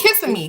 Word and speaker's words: Kissimmee: went to oh oh kissing me because he needs a kiss what are you saying that's how you say it because you're kissing me yeah she went to